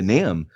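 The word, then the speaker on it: NAMB: when I came to NAM, and by the way, for our listeners, that's North American Mission Board, the B is silent. And when I first came to NAM, I didn't know that people funded church planners.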